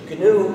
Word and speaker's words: GNU: than that you see gnu is the most humor charged word in the english language used in countless wordplays because according to the dictionary it's pronounced new the g is silent so every time you